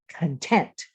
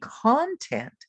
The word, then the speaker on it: content: your saying and say content. You're going to put the accent on the second syllable so your mouth opens wider. Content. Don't say content, because that means something different.